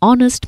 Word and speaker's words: honest: For words like are, honest, honor, and air, where the h is silent, we use an. Examples: an hour ago, an honest man, an heir to the throne.